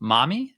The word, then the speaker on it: MAMI: And she also has an initiative called, I think it's pronounced Mommy, but it's spelled MAMI, which champions women in